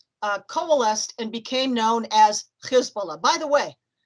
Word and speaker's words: Hezbollah: And by the early 1980s, that organization coalesced and became known as Hezbollah. By the way, pronounce it Hezbollah, because Hizb in Arabic means party, Allah means God, party of God.